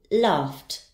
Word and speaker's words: laughed: dropped next I have the verb laugh its sound ends in the Eddie ending will be pronounced as T laughed laughed and finally we